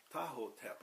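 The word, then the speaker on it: Ptahhotep: of them uh was the writing of taha tahoe tap i'm going to spell that for you the instruction of tahoe that's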